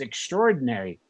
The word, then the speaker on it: extraordinary: of the day is extraordinary and when I first wrote it down I wrote it as it's pretty much commonly spoken pronounced extraordinary the a is almost silent but the correct spelling